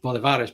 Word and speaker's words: Bolívares: they have this bolivares which I pronounced bolivares but they like they say the accents on the eye yes um so so